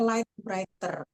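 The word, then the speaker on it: Lite Writer: Oke, untuk aplikasi catatan yang saya pakai Pak, itu namanya Light Writer. Live Light, writer, Light Writer itu tulisannya ejaannya LITE, light, Oh, writer biasa.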